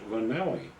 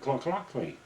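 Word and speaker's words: Llanelli: We pronounced it Lanelli. And this Welshman, we were buying the tickets, he kept telling us, no, no, no, he said, you don't want Lanelli, you want Clockley. That's how they talk. They pronounce it Clockley, about like that.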